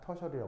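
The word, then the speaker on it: tertiary: 부르느냐 터시 아리라고 합니다 영어로 발음을 하면 터셔리 발음합니다 터셔리 발음하고 이제 쓸 때는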